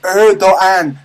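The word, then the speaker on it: Erdoğan: to pronounce erdogan's name it's pronounced erogan first of all who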